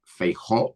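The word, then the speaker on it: Feijóo: had a new leader Alberto Nunes feo that's the the way his name is pronounced in Spanish yeah uh English speakers have a really tough time saying it uh and uh he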